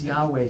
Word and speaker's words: Yahweh: That's this Yahweh thing.